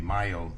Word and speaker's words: Mayo: yeah the the the myo study is m-a-y-o it it it's as though it should be pronounced male 1 and and what